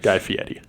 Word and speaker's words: Guy Fieri: Guy Fieri. I don't care. That's how you pronounce it.